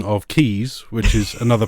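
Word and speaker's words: Caius: name me guys but they'll produce the also pronunciation of keys which is another pronunciation of it which is actually because there's a college in Cambridge where I'm from called gonville and keys and it's spelled gum and gas really yeah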